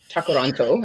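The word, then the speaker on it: Tkaronto: So there was a protest in Toronto on Canada Day and do you or Takaranto I believe is the indigenous pronunciation.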